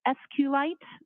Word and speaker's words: SQLite: as far as the sqlite database uh how is that spelled it is capital SQL lowercase i t and sqlite uh is also commonly pronounced as SQ light so both pronunciations are acceptable now once you received